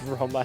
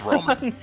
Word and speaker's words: Roma: That's not how you pronounce their name. It's Roma. Yeah, it's Roma.